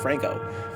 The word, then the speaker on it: Franchot: be franco franco my name is franco pronounced franco f-r-a-n-c-h-o-t franco it's gotta be franchit